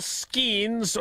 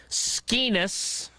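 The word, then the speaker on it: Skenes: Paul Skeens, or as he's referred to on our show, because Tausch mispronounces his name, Skeenis, won 11 games last year.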